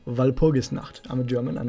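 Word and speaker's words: Walpurgisnacht: to go back to while pogus not but this is how you pronounce it valpogus not i'm a german i'm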